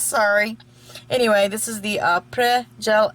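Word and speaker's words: Après: It is not Apres, it is not Apres, it is Apres, okay? Apres. So, simple, it's French. So, if I said that wrong, Chris, sorry. Anyway, this is the Apres Gel X Full Cover Soft Gel Extension.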